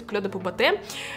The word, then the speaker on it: Clé de Peau Beauté: И да, кстати, правильно говорить Clé de Peau Beauté. Я читала в комментариях, люди спрашивали, почему Clé de Peau Beauté. Потому что как бы название идет на французском, но бренд при этом японский.